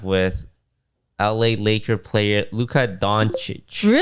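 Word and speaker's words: Dončić: We we did an Overwatch sponsor and they had a collab with LA Laker player Luca Donich. Really? And it's underlined in the brief pronounced Don Cheich.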